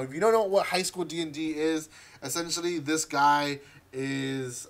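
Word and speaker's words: High School DxD: vault of giveaways uh high school dix d or sorry high school d and d you don't pronounce the x uh volume four now if you don't know what high school d d is essentially this guy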